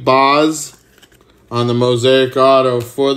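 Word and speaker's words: Baz: Bay or Shane BOS thought I thought they pronounced it Bas but Shane BOS on the Mosaic Auto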